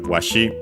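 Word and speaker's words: わし: Then after that we have washi un accented.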